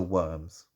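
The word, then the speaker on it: wyrm: so all the tennies are worms w-y-r-m i think that's how you're supposed to pronounce it i don't even know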